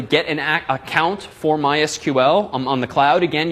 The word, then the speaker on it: MySQL: call the company called MySQL once and they do in fact pronounce themselves mysql not my sequel which frankly i find silly it's a lot faster on fewer syllables to say my sequel but it's their company